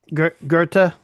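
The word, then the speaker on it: Goethe: Gerta. Gerta. Yeah, it's it's an umloud O.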